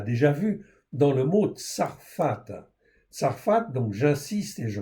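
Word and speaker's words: צרפת: OK ça s'écrit donc ici sad rche p et tava. OK ça c'est tsarfat.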